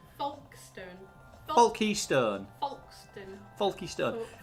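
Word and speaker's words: Folkestone: spelt it right richard that's not how you say it he was like porky stone foxton foxton foxton and he's like folkstone paul keystone folky stone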